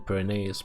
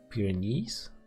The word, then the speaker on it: Pyrenees: have their uh forza in perennials but pyrenees that's how you pronounce it in english hello hey hey severe